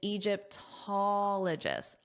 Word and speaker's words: Egyptologist: And this is important because that pattern applies where the syllable stress is on the first O before ologist, allist because it applies to all the words.